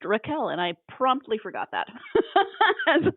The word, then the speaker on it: Rachel: to Bach she says there's no CH sound in their language and so her name is actually pronounced Raquel I was like oh